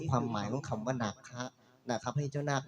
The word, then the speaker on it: นาค: คือ โบราณ นะ ครับ แต่ ถ้า ใน ภาษา พระ ใน ภาษา บาลี น หนู สระอา ค ควาย จะ ไม่ ได้ ออก เสียง ว่า นาค จะ อ่าน ออก เสียง ว่า นาคะ นาคะ แปล ว่า ผู้ รู้